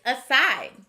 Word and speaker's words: aside: word this word is a side it begins with a but it sounds like you there's the sneaky schwa sound again which star do you